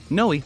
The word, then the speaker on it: Ngoy: An ambitious Cambodian refugee named Ted Ngoy was building a vast network of donut shops and staffing them with hundreds of countrymen whose visas he sponsored. Ngoy, the G is silent, started in La Habra